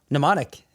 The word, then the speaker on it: mnemonic: just walked into my life and said, "Hey, mnemonic." You actually pronounced it right too.